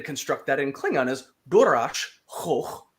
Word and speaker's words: DuraS: Choch, the verb, which means to kill, and Durash, who is Duras, right? Yeah. And so we want to say Worf kills Duras. So the simple way to construct that in Klingon is Durash Choch Wotriv.